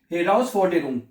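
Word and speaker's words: Herausforderung: हेराउस फॉरडेरुंग, ठीक है। जब इसमें यह खासियत है कि जर्मन जुबान को, इसलिए जर्मन जुबान प्रोनाउंसिएशन में आसान हो जाती है आसान हो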